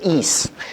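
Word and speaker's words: εἰς: La preposición is, o eis, se escribe en griego, pero es is, la pronunciación.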